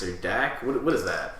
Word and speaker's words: Dax: Is his name Dax or Dak? What is that? It's Dax. Is it Dak? How do you spell it?